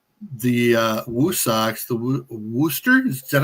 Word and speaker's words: Worcester: You know, that's one thing I forgot to grab the the screenshot, but the uh Woo Socks, the Worster, is that how you pronounce? Worcester.